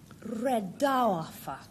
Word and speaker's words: redowa: Redowa. That's how it's pronounced because, as you probably all know, it's a Polish word.